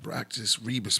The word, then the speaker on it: Abraxas Rebus: And we also got that Abraxas Rebus. Remember, you guys say it like that. Abraxas Rebus Simha Pleroma.